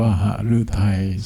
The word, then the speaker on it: หฤทัย: อ่าน ว่า ฝ ฝรั่งเศส หฤทัย อ่าน ว่า หฤทัย สมเด็จ พระ มหาสมณเจ้า อ่าน